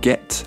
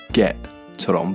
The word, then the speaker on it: get: 이 문장을 할때 대부분 영국 사람들은 get 아니고 get처럼 발음할 거예요. get 이 T 소리를 하고 싶으면 에라고 먼저 하세요. 그리고 이에 소리를 목에서 짧게 잘려보세요. 에에에 get. Could I get a table for two, please?